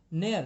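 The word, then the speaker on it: ne'er: नेयर, नेयर means इसको नेवर को short करके लिखा हुआ है, नेवर, वहां पे वी हम साइलेंट कर देते हैं, सो नेवर, नेवर का मतलब कभी नहीं, राइट।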